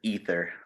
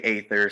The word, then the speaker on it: Aether: the the name of the band is ether you really didn't know how to pronounce that dude it's okay we get a lot of we get a lot of people that say ather so that's yeah I I